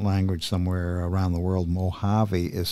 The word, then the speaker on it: Mojave: as a second language somewhere around the world Mojave is spelled m-o j a v e Mojave Beach Productions thank you it is true